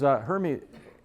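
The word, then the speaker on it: Hermès: That's a good example, because Hermes, I guess is how you pronounce it, right? Hermes, Hermes, whatever the hell. Potato, what the hell. It's Hermes.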